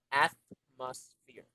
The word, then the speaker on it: atmosphere: it this way ah most fear you know you know the word fear when you get scared it's almost the same as that because what we're after is the pronunciation all right try it again atmosphere at most fear very good you see